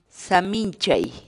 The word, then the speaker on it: saminchay: de vídeos en la que te enseñamos a pronunciar algunas palabras en quechua así que nuestra palabra del día por hoy pies samín chay samín samín chay la palabra quechua en español